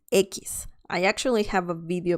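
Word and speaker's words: equis: another tricky one and this is the letter ekis ekis i actually have a video about this letter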